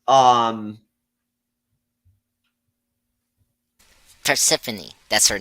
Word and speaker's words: Persephone: in um okay here it is it's um Persephone that's her name is that how you pronounce it yeah for Symphony yeah I just